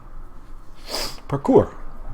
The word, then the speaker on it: parkour: Parkour. It's pronounced parkour. It's French.